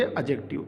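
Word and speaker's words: adjective: जब भी डी जे ई एक साथ आते हैं तो वहाँ डी साइलेंट हो जाता है और उसके बाद हम इसके अंदर केवल जे ई की ध्वनि निकालते हैं, इसलिए हम इसे पढ़ेंगे एडजेक्टिव। तो ये ध्यान रखना आपको।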